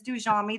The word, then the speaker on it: Dujami: None of you are going to know how to say it when I tell people that it's Dujami. They're like, huh? Do It is Jamie, do Jamie. Dujami.